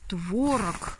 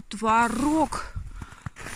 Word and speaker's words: творог: в другом бы значит не творог а творог ой ребята оба оба ударения считается нормой в русском языке я об этом знаю